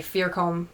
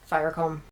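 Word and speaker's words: Fiercombe: But every time I see IE, I want to just say E, and like vice versa. EI is pronounced I. And so I always want to say Firecombe, but it's Firecombe.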